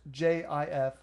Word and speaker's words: GIF: that's all the Webbies allow, by flashing a GIF on the big screens at the whatever. It's pronounced J-I-F, not GIF.